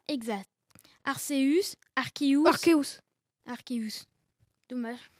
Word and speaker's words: Arceus: Quelle est la prononciation exacte? Arceus, Arceus.